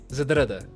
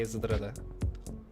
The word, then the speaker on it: Zdrada: people were like, hey, you're pronouncing it Zedrada, and it's like, there is no A in between the Z and the D. It's Zedrada.